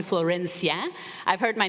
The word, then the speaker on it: Florencia: me flow you can call me Floyd if you cannot roll your ass you can call me Florencia I've heard my name